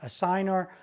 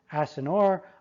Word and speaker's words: assignor: Now, P, painter, assigns that right to C, so P, painter, is the assignor, or some people pronounce it assigner. I was taught to pronounce it assignor. I pronounce it both ways.